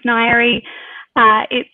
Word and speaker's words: Ngaire: So yes, as Lennon said, my name's Ngaire. You probably saw it spelled, it's a bit wacky, but it's pronounced kind of like diary, you know, if you